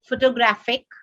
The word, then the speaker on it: photographic: pronunciation i would like some photographic paper the third syllable is stressed they understand with the